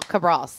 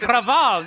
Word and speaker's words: Cabral: Cabral is CAB like boy, not V like Victor, not No. Cabral with a B. RAL. Cabral.